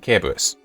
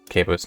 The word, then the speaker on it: Cerberus: another world, Chimera and Cerberus. Technically pronounced Cerberus, not Cerberus, but anyway.